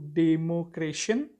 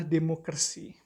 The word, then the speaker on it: demokrasi: Oke, materinya yang pertama tadi saya tangkap bahwa ada pronunciation yang kurang tepat yang bisa diperbaiki, yaitu democration. Itu lebih tepatnya adalah demokrasi ya, atau di Indonesia kan itu demokrasi.